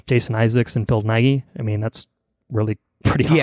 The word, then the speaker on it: Nighy: I really enjoyed, on a side note, I really enjoyed Bill, how do you pronounce his last name? Nighy? Bill Nighy.